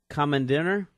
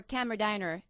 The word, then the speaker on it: Kammerdiener: I have it as common dinner that in German or camera diner diner in English Okay I have the